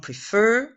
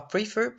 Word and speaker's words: prefer: Ou un verbe de deux syllabes, on appuie sur la deuxième, c'est plutôt rare. Il y a par exemple prefer, on dit pas prefer, occur, refer, des choses comme ça.